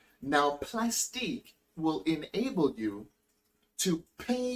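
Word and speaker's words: Plastiq: be paying through plastic plastic and that's how it's spelled p-l-a-s-t-i-q now plastic will enable you to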